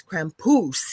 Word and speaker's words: Krampus: And he says, "You over in North America, you don't say it correctly. It's Krampus."